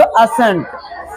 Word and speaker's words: ascent: जैसे ASCENT क्या पढ़ेंगे इसको, असेंट, असेंट, असेंट नहीं कि असेंट, असेंट होना चाहिए,